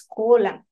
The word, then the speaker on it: Kolam: The word column, which is column, to be just on the right pronunciation, it's column. But it's easy for me as a Westerner to say column, means beauty.